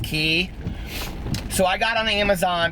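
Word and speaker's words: Quay: them in gold, and they're spelled Q-U-A-Y, but they're pronounced key.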